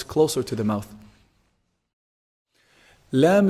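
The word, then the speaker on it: لام: Lam is actually pronounced from the tip of the tongue when it hits the gum or the gums of the upper incisors.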